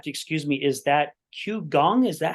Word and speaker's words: qigong: Is that Qigong? Is that how they pronounce Gong, Qigong. Qigong? Yeah. Qigong.